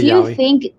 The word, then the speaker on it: Yowie: In your opinion, these kinds of creatures around the world, like the Yeti, Bigfoot, Sasquatch, and Yowie, is that how you say it? The Yowie.